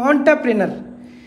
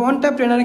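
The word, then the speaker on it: entrepreneur: হচ্ছে আপনার টি আর এর মত যেমন এটার উচ্চারণ হবে অন্টারপ্রেনার এটা আপনাদের উচ্চারণ মনে রাখতে হবে না শুধু অন্টারপ্রেনার ক্ষেত্রে মনে রাখবেন টি আরই এবং হচ্ছে ইউ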